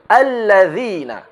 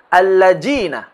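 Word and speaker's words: الَّذِينَ: Cara yang benar adalah hadza, idza, dzalika, alladzina; bukan alladzina, atau alladzina, atau alladina, melainkan alladzina, dengan menyentuh ujung lidah kita ke tepi gigi seri depan atas kita.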